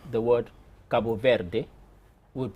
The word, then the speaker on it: Cabo Verde: even pronouncing the word Cabo Verde would pronounce it anything that ends in d and e is pronounced with a J sound while somebody from Portugal would say Cabo Verde from Brazil Cabo Verte so just even that